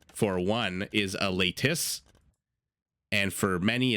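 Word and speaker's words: Leitis: a native tongue or learned Lithuanian how to pronounce ladies because I kept saying ladies ladies and people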